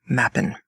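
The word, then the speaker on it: m'appen: This this chapter really should have been titled mappen, which is a contraction of may happen. It's spelled m apostrophe a p n.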